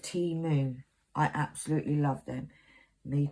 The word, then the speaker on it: Temu: On my Temu unboxing, Sue Glennis says, it is pronounced Temu.